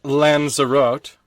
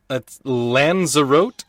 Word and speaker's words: Lanzarote: is a vineyard in the volcanic valleys of lanzarote sure that's how that's pronounced and three cinosilicophobia is the fear of an empty glass okay oh boy there's a vineyard in the volcanic fields of what lanzarote l-a-n-z-a-r-o-t-e and there's no company air company country